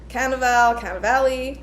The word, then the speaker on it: Cannavale: Here we go with my pronunciation issues. I don't know if it's like Cannavale, but yeah, he's like, been in lots of movies.